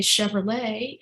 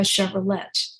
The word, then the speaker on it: Chevrolet: There are the final consonant in a word in French is not pronounced. So we drive a Chevrolet and we don't drive a Chevrolet.